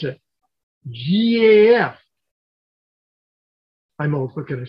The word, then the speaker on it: GAF: or if you're hank fonda how do you pronounce it gaf i'm old what can i say um so